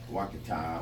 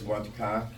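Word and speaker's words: Ouachita: this 1910 look, where you're looking straight down Wakata or Wachita, however you prefer to pronounce it. But that is Wachita, and that is the Coma Hotel, obviously, and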